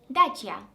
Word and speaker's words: Dacia: Can someone tell me how to pronounce the female Romanian name Dacia? Dacia.